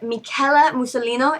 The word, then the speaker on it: Michela Musolino: Her name is Michela Musolino. Am I pronouncing that correct?